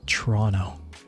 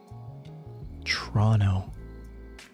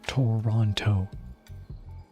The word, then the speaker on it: Toronto: in Toronto it's pronounced torono tono tono there is no second T it's not Toronto Toronto anyway that's amusing